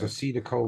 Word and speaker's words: acetylcholine: that's how it's pronounced, acetylcholine.